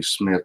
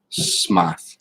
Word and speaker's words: Smythe: to be pronounced smart they still call me Smith instead of Smythe Smythe steady steady what